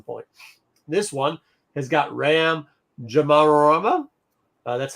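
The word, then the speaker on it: Ram Jomaram: This one has got Ram Jamarama. That's how you say his name. It's Jamarama.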